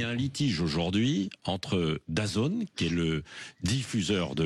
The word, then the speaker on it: DAZN: DAZN, ça s'écrit D-A-Z-N.